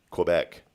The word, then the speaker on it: Quebec: you were born, Rick, the French formally surrendered Quebec to the British.